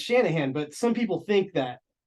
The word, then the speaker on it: Shanahan: and I was like no it's Shanahan but some people think